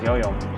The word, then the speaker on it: 游泳: Yuyom.